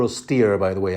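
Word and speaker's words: Styr: to order is it stir or steer by the way I think a lot of people pronounce it steer St yr the Magner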